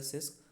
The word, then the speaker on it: CISC: Pronounce सिस्क, हाँ, यू can pronounce this CISC एज अ सिस्क, RISC एज a risk, ठीक है।